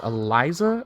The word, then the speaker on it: Elise: okay poppy and elise i think it's actually pronounced eliza according to riot really slow we want